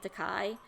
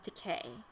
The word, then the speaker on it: Takei: But so I might accidentally go back to saying teai, but I'm going to try and keep it to the correct pronunciation of decay because it rhymes with gay.